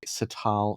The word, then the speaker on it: Sital: So the artist is called Luke Sital Singh. So Luke l u k e and then Sital s i t a l so like sitar but with an l at the end and then it's dash